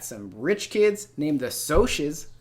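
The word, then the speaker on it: Socs: rich kids named the so she's not socks if you pronounce it that way mmm so she's like socialite then just party they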